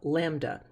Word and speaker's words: lambda: lambda and it is pronounced like that like the little four-legged fluffy animal lamb and then duh lambda the symbol for it